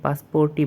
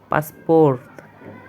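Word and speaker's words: паспорт: ইংলিশে এটাকে পাসপোর্টই বলা হয়, কিন্তু রাশিয়ান ভাষায় এটাকে বলা হবে পাসপোর্ট, একটু লাস্টে টান হবে, পাসপোর্ট।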